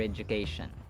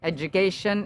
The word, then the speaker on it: education: to stop taking further Education lugubrious Education Education education d is pronounced as J as in education gradual graduation individual yada yada Florence Florence